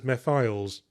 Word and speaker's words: Mephiles: I presumed it was pronounced would be pronounced mephles because it's sort of a shortening of mephistophles. But then I remembered out of nowhere a cutscene from Sonic 2006 where they kept pronouncing it as Mephiles.